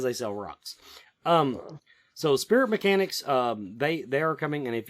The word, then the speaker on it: Mechanix: So Spirit Mechanics, they are coming, and if you want to find out more about them, their Facebook page, it's spelled MECHANIX, MECHANIX, Spirit Mechanics.